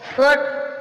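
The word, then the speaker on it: fought: फोर्ट, फोर्ट means लड़ा, GH silent.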